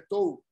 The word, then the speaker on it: Tours: Hubo una batalla, la batalla de Tours, que fue en el 732, fue la que determinó poderlos parar, porque Martel vence en esta batalla a los musulmanes.